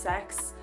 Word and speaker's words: CeX: our local like uh CeX or C ex if you know I think it I think it's actually pronounced sex but I don't want